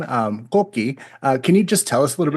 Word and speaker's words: Coqui: In Puerto Rico, they pronounce it Coqui because there's an accent at the end. But I pronounce it Coqui. That's just how I've heard it my whole life.